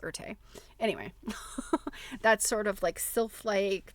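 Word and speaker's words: Erté: It's Erte, and I can't remember if that's I don't know if you pronounce the E on the end or not. I think you do. I think it's Erte.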